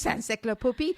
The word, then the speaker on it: Saint-Cirq-Lapopie: It's Saint-Cirq-Lapopie, or this is dedicated to my darling mother,